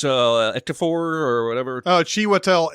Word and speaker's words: Ejiofor: It's Ejiofor or whatever. Oh, Chiwetel Ejiofor.